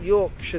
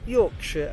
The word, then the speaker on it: Yorkshire: it changes to shire, and we speak about Yorkshire, Worcestershire, Hampshire. Even Americans will often say Hampshire. If they don't know, you have to say Hampshire. And the breed of dogs called Yorkshire Terrier is Yorkshire and not Yorkshire, as many people say.